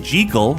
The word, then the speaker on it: Jekyll: If you pronounce it Jekyll, suddenly it rhymes with seek. Well, Seek, like seek all.